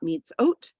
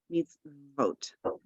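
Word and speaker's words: מִצְווֹת: So it's not mitzot, mitzvot. Same idea here. We have mitz, vo, and then we have that I ending, mitzvotai.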